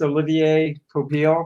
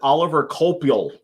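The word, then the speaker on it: Olivier Coipel: book by the artist olivier topil oh yeah yeah how i used to pronounce it oliver coppole like just the the worst pronunciation that could be oliver i know i know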